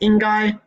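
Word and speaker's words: 应该: The word for should in Chinese is ingai. That's Mandarin Chinese. You say it like that, ingai.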